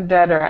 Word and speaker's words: debtor: a dtor. And make sure that this this B in the middle of the word is kind of tricky, but you don't pronounce the B, so it's just der.